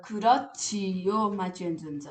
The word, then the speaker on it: 그렇지요: 이게 지읒이 와 가지고 강한 소리 치읓으로 소리가나요 그래서 그렇지요라고 발음하는 겁니다 그렇지요 자 여기에서는 종교 활동과